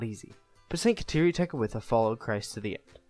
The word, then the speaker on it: Tekakwitha: Because of her blindness, she was given the name Tekakwitha, which is pronounced in Mohawk, Tekakwitha, which means she who bumps into things.